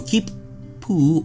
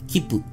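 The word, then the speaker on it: きっぷ: When you see the small 2, you don't pronounce it as 2. Instead, you treat it as a very brief pause before pronouncing the consonant. So keep poo or mat te.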